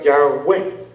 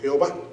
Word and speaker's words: Yahweh: Entonces, no sabemos cuál es la real pronunciación de este nombre. Pero para poder pronunciarlo, pues le tuvieron que agregar vocales para que dijera Yahweh o Jehová.